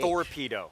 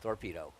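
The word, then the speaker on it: Thorpedo: explain to me why her name is spelled torpedo with a th torpedo torpedo so it was really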